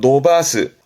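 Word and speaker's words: 伸ばす: 발음은 노바스.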